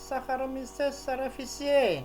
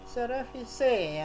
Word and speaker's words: cerevisiae: you sleep contoh shakhrukh cerevisiae Hai berakhir air berarti bacanya bukan saccharomyces cerevisiae ya tapi saccharomyces cerevisae ya berikutnya lengkuas Hai tulisannya